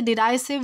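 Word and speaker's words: derisive: दोस्तों, डेरेसिव का मतलब होता है अपमानजनक या फिर तिरस्कारजनक। इसे डिराइसिव, डेरेसिव किसी भी तरह प्रोनाउंस किया जा सकता है।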